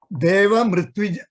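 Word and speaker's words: देवमृत्विजम्: Devam, Ritwijam, Devam plus Ritwijam will come when you say plus Devam plus Ritwijam, it becomes Deva Mritwijam, Mr. Just like MR together will be pronounced as Mr.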